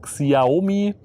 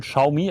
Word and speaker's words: Xiaomi: Viele sagen dazu Xiaomi, wird aber wohl Xiaomi ausgesprochen, wie ich das jetzt auch lernen musste.